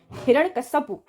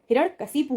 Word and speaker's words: हिरण्यकशिपु: हिरण्यकश्यपु, देख रहे हैं, हिरण्यकश्यपु, हिरण्यकश्यपु न होके हिरण्यकशिपु होगा, ध्यान रखिएगा इस क्वेश्चन को, ये कई बार आ चुका है, हिरण्यकशिपु, ठीक है, कश्यपु नहीं होगा, हिरण्यकशिपु।